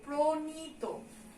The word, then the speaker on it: প্রণীত: তারপরে আমাদের কি দেওয়া আছে, প্রণীত, কিন্তু এটার উচ্চারণ আমরা কি করি, প্রণীত। পয়ের সঙ্গে একটা ওকার যোগ হয়ে যায়, ন দন্ত ন হয়ে যাবে, তয় ওকার হয়ে যাবে, প্রণীত উচ্চারণ করি এটা আমরা।